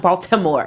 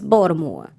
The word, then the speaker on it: Baltimore: was like it's not Baltimore it's not Baltimore its Baltimore a lot more thank you softie mm-hmm